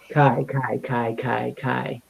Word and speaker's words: Kiara: Kai Ara. Kai. No, it's Ryan. It's like the A is silent, and you just have the K and the I. Kai.